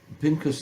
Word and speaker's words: Pinchas: We are reading Parshas Pinchas this week. And for those who don't know what Pinchas did, he's known as Pinchas in English because Americans cannot pronounce CH, the ha sound.